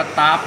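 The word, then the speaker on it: tap: ด้าม ด้าม ดอก แทบ คน ไทย อ่าน ว่า ตาบ นะ แต่ ฝรั่ง อ่าน แถบ อัน นี้ ต้อง ขอ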